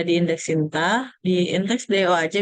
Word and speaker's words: DOAJ: Nah, indeksnya ini ada di indeks Sinta, di indeks DOAJ. Jadi bacanya DOAJ ya, bukan Dodge. There's no Dodge, dia hanya DOAJ.